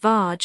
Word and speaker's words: verge: 83, Verge, pronounced Varge as the rhyme shows.